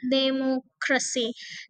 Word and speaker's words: democracy: Oke, kalau kita hitung lihat democracy. Nah, ini ada empat syllabel ya. Dem democr democray. Nah, yang akan kita stress adalah tiga dari belakang. Berarti C itu ketiga, K itu kedua dari ee apa? Kedua dari belakang gitu ya. Mo. Nah, inilah ketiga dari belakang. Demokrasi, demokrasi. Demokrasi, demokrasi gitu ya atau fotografi.